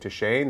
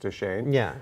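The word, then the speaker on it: Deschain: saying his name right to Shane the Gunslinger uh I can spell it d e s c h a i n but I think it's pronounced to Shane um and so yeah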